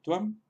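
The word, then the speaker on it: त्वम्: Por ejemplo, el pronombre tú en sánscrito es tuam, tuam, y si lo intentamos pronunciar como tuam, tuam, tuam, quizá un poco difícil de pronunciar. Entonces, lo normal es que lo pronunciemos como tuam, tuam. Entonces estamos pronunciándolo como una especie de W, T, W, A, M.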